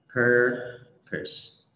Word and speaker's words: purpose: Purpose.